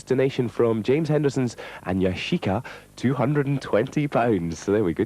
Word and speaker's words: Yashica: It's a Yashichi Sumatra ×3. Is that how I say it? No, it's not how you say it. Pardon? So, David Bailey's not listening. Yashica.